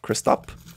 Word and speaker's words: Christop: There's no H on the end, which is not Christoph. Christop.